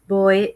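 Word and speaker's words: Bawi: my son name is boy julian and then first name sounds like you know boy like boy but it's spelled b-a-w-i okay and uh so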